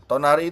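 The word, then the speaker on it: 隣: Tonari itu berarti sebelah teman-teman. Sebelah ya kan. Dan sebagai catatan ya, kalau kanjinya seperti ini ya kan, itu tonari bacanya, artinya adalah sebelah gitu.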